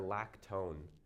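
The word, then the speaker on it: lactone: They call a cyclic esester a lacone uh which sounds like a ketone, doesn't it?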